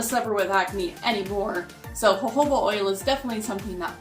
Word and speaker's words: jojoba: now number 10 is hobo oil not pronounced jojoba Coco but I know that's a crazy word cuz it's for J's but this is very